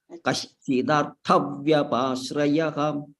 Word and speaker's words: कश्चिदर्थव्यपाश्रयः: Kashchidarthavyapashrayah.